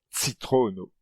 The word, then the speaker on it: citrono: Et en espéranto, le son associé à cette lettre est le son ts, comme dans le mot citrono, citron, ou danci, danser.